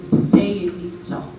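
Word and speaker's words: Saito: From his paternal grandfather's side, his last name that he took and is pronounced Sayito.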